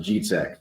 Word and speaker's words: Dzicek: So, Polish, it's pronounced G-Tech. So, the DZ makes a G noise, the C makes a TZ noise.